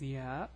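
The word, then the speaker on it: ي: Okay, so the name of the letter is Ya, Ya, and the pronunciation is Ya, similar to the Y in English.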